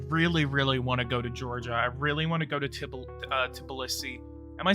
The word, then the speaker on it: Tbilisi: I really want to go to Tbilisi.